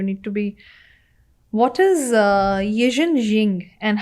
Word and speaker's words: Yijin Jing: What is Yijin Jing, and how does it help people unlock longevity and resilience, especially in healing?